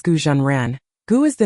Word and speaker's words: Gu Zhen Ren: has another name daisu the Chinese name is pronounced as gujan ran goo is the name